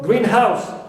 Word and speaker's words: greenhouse: The same thing for greenhouse, as one word. As you see here, one compound noun. Stress the first. But a greenhouse, any house which is green, noun phrase, I stress house, not green.